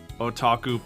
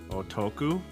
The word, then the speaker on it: otaku: There are certain anime that will do like otaku pandering lip service that just make me insanely mad. Ottoku. What? Otaku. Uh right. Yeah, there's uh did I say it wrong?